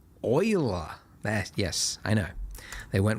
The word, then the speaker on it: Euler: to add Shift A, Utilities, Rotation, Rotate, not Euler, Euler. Yes, I know. They went with the weird pronunciation.